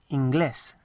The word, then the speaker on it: inglés: And incidentally, the accent is very important on this, inglés, because it tells you to pronounce the last part of, to emphasize the last part of the word, inglés.